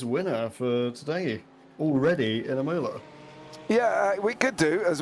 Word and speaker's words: Imola: for today already in Imola. Yeah, we could do as well. And I do love the way you say it, but it is Imola. Is it Imola? My bad. Imola, yeah, Imola. So there we go.